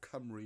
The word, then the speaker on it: Cymru: Whereas Cymro or Cymru is a hard C.